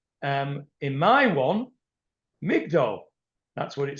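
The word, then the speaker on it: מגדול: normally uh say is magdil but it's it's pronounced Migdal, that's a Korean civ. It's written one way and read a different way.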